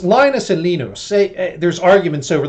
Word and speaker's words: Linus: So this is where nerds got together and they took Linus's kernel. It's Linus and Linus.